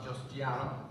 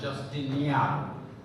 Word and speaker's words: Justiniano: Past International Directors, Justiano. Actually, let me apologize for that pronunciation. That had nothing to do with my Jamaican accent. He's Justiniano.